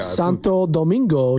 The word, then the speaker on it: Santo Domingo: a second I want to make sure we pronounce it correctly oh my gosh oh my go Santo Domingo Dominican Republic Santo Domingo yeah heard that place